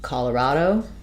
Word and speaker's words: Colorado: colado call Colorado stress is on Raw but C has some secondary stress so Colorado um both a and then awah here and a true o at the end Colorado Colorado um there